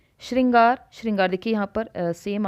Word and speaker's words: श्रृंगार: अब इसको मैं दोबारा आपके समक्ष बनाती हूं श्रृंगार ऐसे लिखा जाता है ठीक है अब इसको